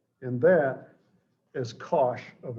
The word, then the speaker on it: cosh: is how people pronounce these this is usually pronounced cinch of x and that is cosh of x at least that's the version i